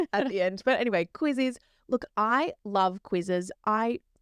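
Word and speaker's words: Quizizz: So I never know how to actually say this, but it's spelt like quiz with an extra IZ at the end. Yeah, I always say quizzes.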